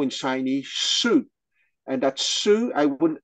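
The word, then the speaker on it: 势: So the Chinese character that is pronounced Shu, S-H-I with the fourth tone, is written on the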